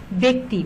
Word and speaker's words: ব্যক্তি: জফলা কয়টা রস্য ইকার, উচ্চারণটা কি হয়েছে ব্যক্তি, বর সাথে একার দিয়ে আমরা উচ্চারণটা লিখেছি ব্যক্তি, ব্যতীত, ব্যতিব্যস্ত, ঠিক আছে।